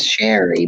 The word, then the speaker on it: Sheree: It's Sherry, but it's spelled Sheree.